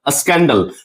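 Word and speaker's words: scandal: लेकिन अगर हम लोग बात करें स्कैंडल, तो यहां देख सकते हैं सी बना रहा है कॉ को, सी बना रहा है मींस सी से कॉ प्रोनाउंस किया जा रहा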